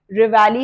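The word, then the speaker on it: reveille: Next है रिवैली, रिवैली है इसकी प्रोनाउंसिएशन, क्या होता है?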